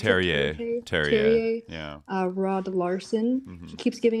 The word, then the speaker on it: Terje: So the Norwegian diplomat, how do you pronounce it? Terje.